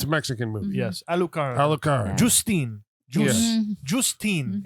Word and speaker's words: Alucarda: Are we going with Al-U or Al? The way they say it, Alu. Alucarda. Yeah. It's a Mexican movie. Yes, Alucarda.